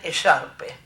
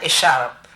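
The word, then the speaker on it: écharpe: épocas no decían bufanda decían echarpe o ella o más bien echarpe haciendo sonar la de final pero la gente bien decía es art así pronunciando correctamente en francés esa otra lengua de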